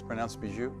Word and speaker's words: Bijoux: Vyslovuje se to „Bižu“.